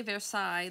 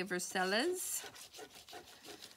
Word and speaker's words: Versailles: way they say it they don't say Versailles they say verseilles and it's like no it's at least say it like in France anyway it's funny okay